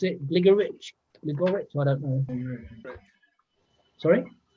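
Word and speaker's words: Gligorić: This is another short game against, I don't know how to pronounce it, Gligorich, I don't know. Sorry? Gligorich.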